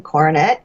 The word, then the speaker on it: Koronet: My name, which is Koronet, KORONET. Some people want to say it like the French. So when you asked, was that right? It's like, yeah. It sure was, because it's not Koronet.